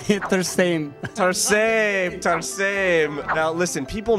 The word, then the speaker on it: Tarsem: do you say that he said Hitler stain tar same time same now listen people know you from